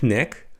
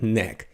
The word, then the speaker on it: knack: Here, he has a knack for, pay attention to the pronunciation of the word neck, right? It's neck, not kneck, but neck. He has a knack for.